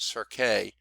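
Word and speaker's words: cirque: on that side hey Sergei I think is how you pronounce that it could be just cert but I believe they pronounced it sir kay that is a rounded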